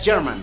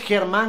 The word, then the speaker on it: Germán: ¿Cómo saben mi nombre es Germán? Pero en inglés se pronunciaría German, que en inglés significa alemán.